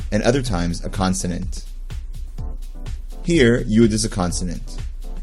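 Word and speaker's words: היא: a word in english again the alif is silent try it he it means she and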